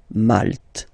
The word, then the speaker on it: Malte: Same thing here, you don't insist on the final E. Malte.